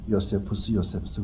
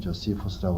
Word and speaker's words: Josephus: 우리말로는 요세푸스 그러지만은 미국 발음은 조시푸스라고 그러는데 요세푸스라고 하는 사람은 어떤